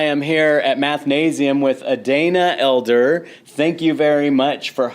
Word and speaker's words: Adana: Adana, I pronounced it incorrectly starting off Adana, but it is Adana.